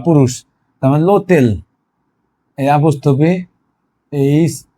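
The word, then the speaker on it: l'hôtel: যেমন এই long, long এই মানুষ বা পুরুষ, তারপর লোতেল এই আপস্থপি এইচ ও টি ই এল, এখানে লোতেল, এখানে কিন্তু লো, এখানে লো হোটেল আছে, কিন্তু লো হোটেল, লো হোটেল, এটাকে এটাকে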